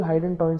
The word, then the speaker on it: hydantoin: Fetal Hydantoin syndrome. Fetal hydantoin, like it rhymes with a phenytoin, so it is caused by phenytoin, associated with the phenytoin used in the pregnancy.